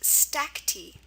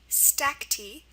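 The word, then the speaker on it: stacte: It's pronounced stacki. Stacky comes from Latin from Greek.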